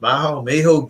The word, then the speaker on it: Maho: Number 5, Maho, I guess it's pronounced Maho Beach is popular beach on St.